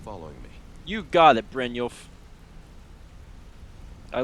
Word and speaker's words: Brynjolf: And I remember I was on my way with Brynjolf, which you guys have told me is correct pronunciation.